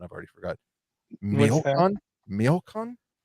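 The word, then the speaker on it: Michoacán: Miocon. It's a Spanish, or it's a place in Mexico. Oh, Michoacan. Miocon. I don't spell know. it again. Michoacan. Michoacan.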